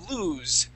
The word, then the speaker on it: lose: Now, lose. Okay, lose with the voiced S. Okay, how can we tell between a voiced and unvoiced? Voiced, you feel here. Lose. There's a vibration.